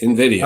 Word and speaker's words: Nvidia: if I'm pronouncing it is it Nidia n yeah Invidia um I heard it's